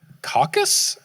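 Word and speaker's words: Cacus: Caucus? C-A-C-U-S, I believe, is how it's pronounced.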